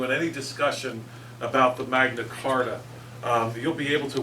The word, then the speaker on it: Magna Carta: that way um because everybody pretty much says Magna Carta but uh if you ever get an argument with somebody and you can just drop Magna charta you know that's the proper way to say it on them they